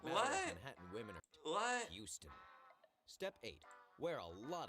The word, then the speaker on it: Houston: the block like 50th between 5th and madison h-o-u-s-t-o-n street is pronounced houston what oh man okay you might